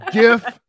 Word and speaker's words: GIF: It's GIF. GIF, not JIF.